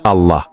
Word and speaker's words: Allah: Vous pouvez l'écrire A-L-A-H-L-A, mais ne dites pas L-A, dites Allah. Essayez, dites Allah. Ne dites pas L-A, ce n'est pas L-A, c'est Allah.